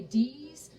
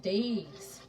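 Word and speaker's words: Deas: at the time and the name is d-e-a-s and there are a lot of people that say ds i grew up here and i everybody i know without last name they pronounce it days days like d-a-y-z-days like that y'all it's going to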